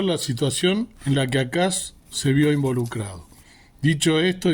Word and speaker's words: Acaz: Esto es exactamente para lo que Dios llamó a un rey llamado Ahaz o Acaz o Achaz, ¿sí? Se pronuncia Acaz en realidad, para que confiara en